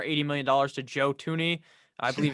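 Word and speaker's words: Thuney: million dollars to joe tooney i believe it's how you say his name it's not spelled like that that's how you say it to the chiefs 80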